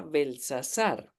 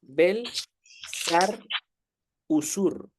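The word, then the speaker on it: Bel-šar-uṣur: decimos en español belsasar realmente nombre no era belsasar el nombre bien pronunciado es belar usur Enton podemos identificar Bel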